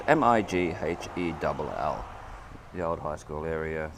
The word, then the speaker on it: Mighell: hear too many people say it, but it's Mighell.